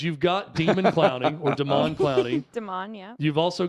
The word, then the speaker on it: Demon: So he is the cousin of Jadeveon Clowney, and it is he goes by his name is Damon, but they spell it Demon. Okay.